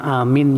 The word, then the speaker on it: amin: Bagaimanakah pengucapan amin yang benar? A itu 2 ketuk. Min bisa sampai 6 ketuk.